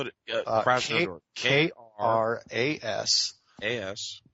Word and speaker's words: Krasnodar: Spell it, Krasnodar. Kras. A-S. N as in Nancy, O-D-O-R. Krasnodar.